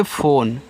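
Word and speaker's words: phone: English word है जिसके last में इ है तो इसका उच्चारण नहीं किया गया है।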